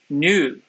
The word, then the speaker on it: Nuit: Nuit is pronounced like. Wait, what? There's no L in that.? So there's a couple different ways that Y is pronounced in English. I don't know if that's coming out more or, but, and Y is French U. Oh, new.